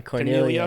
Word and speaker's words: Cornelia: How do you say his name? Cornelia. Yeah.